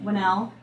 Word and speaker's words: Whannell: Leigh, is it Whannell? Is it Whannell. Whannell. Okay, Whannell. then I was saying it correctly.